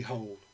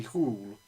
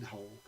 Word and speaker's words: Hole: character is called Harry Hole. I don't think it's pronounced like that in Norwegian. It's probably something like Harry Hole.